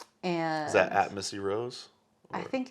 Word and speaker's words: Rohs: it'll come up uh my last name is spelled r-o-h-s it's weird you're like lemon balm Rose yeah absolutely right on well thanks for